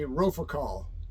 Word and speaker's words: Rofocale: It's supposed to be Rofocale. Rofocale. R-O-F-O-C-A-L-E. So Richard, thank you so much for this shirt.